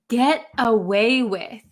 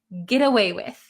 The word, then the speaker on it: get away with: this really really quickly this T is going to become a D sound an English D sound get get get away with get away with okay